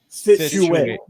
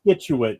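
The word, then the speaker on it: Scituate: said skituate. You pronounced the C. There's no, the C is silent.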